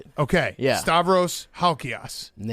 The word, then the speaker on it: Halkias: Actually, that's how it the ass is a real Greek pronunciation. Most people butcher it. You nailed it. Okay. Yeah. Stavros Halchios.